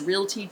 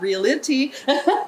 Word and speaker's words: realty: and by the way Realty is real TT syllables not real it T yeah a lot of people do that so so you know